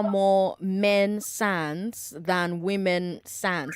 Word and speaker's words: SAN: men SANS than women SANS. Is it SANS or SAN? Is it SAN or SANS? What's the right way to say that? It is SAN.